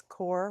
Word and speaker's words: QoR: Um, Golden Artist Colors makes core watercolor. That's how you pronounce Qo R.